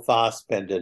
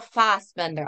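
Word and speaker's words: Fassbender: Bender to play schan Michael fast Bender I like how you say his name he would be a good schan yeah he's cool you're so funny it's it's a German yeah yeah right so you're a purist you're a purist so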